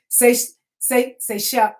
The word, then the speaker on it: Seychelles: I say it wrong all the time, but it's Seychelles.